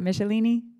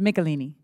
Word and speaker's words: Melini: pronounced your name wrong Mr melini not michelini M that's correct okay so it's melini okay chair now recognizes